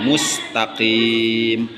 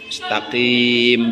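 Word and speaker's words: مستقيم: al mustaqim alif lam komariah, mustaqim, nggak al mustaqim, nggak usah karena ini bukan kolkolah ya. Kalau kolkolah itu sifatnya goer lazimah, tidak selamanya huruf kolkolah itu kesifat kolkolah. Karena kalau kolkolah itu ada sukun asli, ada disukunkan karena wakaf. Kalau ini nggak bisa disukunin, maka bukan kolkolah disebutnya. Ihdinas siratal mustaqim. Mustaqim biasanya nggak mustaqim, nggak usah begitu. Karena bukan kolkolah.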